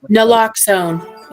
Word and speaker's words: naloxone: Nah, yeah, I can't pronounce that. Yeah. Naloxone.